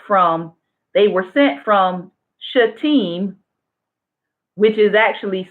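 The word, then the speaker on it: Shittim: says they went from they were sent from should team which is actually spelled SH ITT I am but it's pronounced team they went directly from that place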